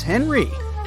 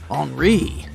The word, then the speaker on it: Henri: And this is Henry, but it's more correct to pronounce his name as Henri, since he's French.